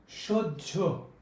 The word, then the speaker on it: সহ্য: কোনো উচ্চারণ হবে না, যার কারণে হয়ের উচ্চারণ না হওয়ার কারণে এটার উচ্চারণ হবে হলো সহ্য। এটার উচ্চারণ হবে কি জানো? উজ্জ। সহ্য, উজ্জ, বাহ্য সবগুলোই দাহ্য, এইভাবে এই উচ্চারণগুলো হবে।